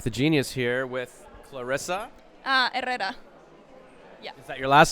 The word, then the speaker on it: Herrera: Arela? Herrera. Arreda? Herrera. Herreda? Herrera.